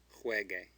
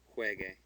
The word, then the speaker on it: juegue: So we've got a G-U-E at the end and no umlaut. So it says que. Juegue. Juegue.